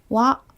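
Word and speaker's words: は: 표기 되어 있잖아요 그런데 예외적으로 이 아가 조사로 쓰이는 경우에만 와 로 발음 해준답니다 이 부분만 조금 주의해서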